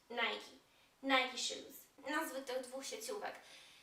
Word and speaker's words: Nike: zdarzają problemy na nazwą często słyszę dwa warianty jeden jest poprawny Nike i Nike poprawnie jest mówić Nike nikes nazwy tych dwóch